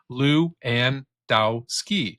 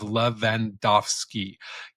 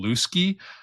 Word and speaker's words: Lewandowski: Lew and Dowski, or a European pronunciation of Lewandowski. Either one is acceptable, but the real problem is that too many people don't even try.